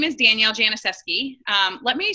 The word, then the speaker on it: Janisewski: So my name is Danielle Janisewski. Let me say my last name again because people never, ever, ever know it. Janisewski. The W is silent.